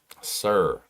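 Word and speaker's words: SER: I I told somebody about something called Sir Jobs for Progress. That's spelled S E R. Sir Jobs for Progress.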